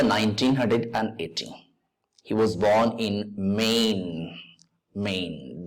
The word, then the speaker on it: Maine: look at the screen and try it in the year 1918 he was born in Maine Maine the word is pronounced as Main like Lane pain Main Sota second syllable